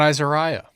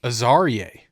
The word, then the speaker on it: Azariah: We've been saying his name wrong. Really? It's not Azariah. What is it? Azarie. Azariah.